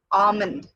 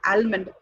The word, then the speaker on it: almond: word is pronounced as almond. Almond. It's not almond. Many always use, okay, and pronounce the letter L in the word. Actually, it is silent.